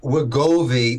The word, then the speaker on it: Wegovy: Pronounce the drug for me so we get it correctly. Well, it's Wegovy or semaglutide is the actual mechanism, but Wegovy is the name it goes by.